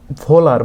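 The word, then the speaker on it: Wöhler: প্রায় কিছু সাল পরে ফেডরিক পহুলার এটাকে অনেক সময় ভোলারও বলা হয় আমরা জানি আর কি উচ্চারণটা তোমরা ওই ইউরাজ সিংকে অনেক সময় যুবরাজ সিং বলে ঠিক এখানে ওই কেসটাই হয় যে ভোলারকে ভোলারও বলে ডব এইচ এটা হচ্ছে তার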